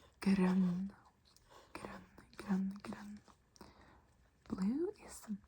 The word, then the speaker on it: grønn: Grønn. It's the Ø sound. Grønn.